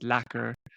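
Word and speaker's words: lekker: r um so you you pronounce it lacer um and that just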